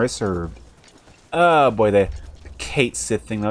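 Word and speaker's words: Cait Sith: The FF official Twitter, Final Fantasy, they have come out and said Kate Sith's name is pronounced Kate Sith.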